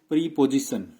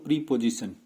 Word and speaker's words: preposition: फिर ये वाला जो पार्ट्स ऑफ स्पीच है इसको भी प्रीपोजिशन, इट्स नॉट प्रीपोजिशन, इट इज प्रेपोजिशन।